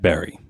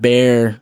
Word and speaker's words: Barre: guys pronounce it and they reassured me that the way to say it is in fact barry what do you think what was yours i forget already i said bear you said bear i